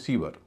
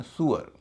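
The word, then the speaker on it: sewer: जैसे एस ई डब्ल्यू ई आर, नियम से इसका उच्चारण होता है स्यूअर, हम लोग इसे कहते हैं सीवर, इसका उच्चारण सुअर।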